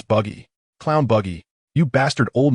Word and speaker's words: Buggy: It's Buggy.